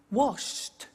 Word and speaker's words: washed: Now, when we add the ed, what happens is the pronunciation becomes T. We don't say watched, we eliminate the E and we say watched. Okay? Interesting, hey? So look at that. Watched, danced, eliminate the E, pronounce the T.